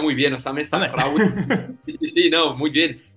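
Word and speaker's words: Osame Sahraoui: Sí, bueno, no, de hecho te iba a decir que lo has pronunciado muy bien, Osame Sahrawi.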